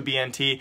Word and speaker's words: BnT: They will be playing though without their best iconic player, the notorious BnT, or Bennett as I used to, you know, mispronounce, but BnT will not be there.